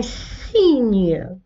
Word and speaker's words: cygne: Un signe, le G هنا نطقناه ن. Un signe, on a prononcé le G comme ن. Ici on entend le son ن.